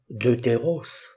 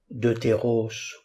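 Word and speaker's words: δεύτερος: La diphtongue epsilon upsilon se prononce eu ou e, deutéros ou deutéros, deuxième. Les grammairiens ne sont pas tous d'accord sur la prononciation. Certains disent e, d'autres eu, deutéros donc, qui est proparoxyton au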